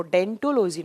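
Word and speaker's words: odontology: ओ यहाँ साइलेंट रहता है, जब आप प्रोनाउंस करते हैं तो उसको डेंटोलॉजी नाम से प्रोनाउंस करते हैं, करेक्ट है।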